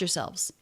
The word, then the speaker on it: yourselves: even the word yourselves I would usually say yourselves first syllable unstressed it would be the schwa sound your ear but that's